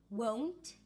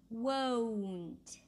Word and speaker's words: won't: Won't. What? So you bring your lips together. What? And then there is a long o vowel. O as in go. Won't.